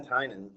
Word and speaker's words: Tynan: Yeah, Ben Tynan.